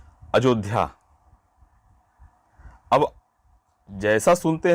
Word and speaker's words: अयोध्या: जैसे मान लीजिए बोल दिए कि अयोध्या, अब जैसा सुनते हैं उसी तरह से कोई कोई विद्यार्थी लिखते हैं, जबकि उसका शुद्ध रूप होगा यहाँ पर अयोध्या।